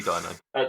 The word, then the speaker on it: Dino: These different sightings of Dino or Dino, however you want to pronounce his name. Definitely Dino. Definitely Dino.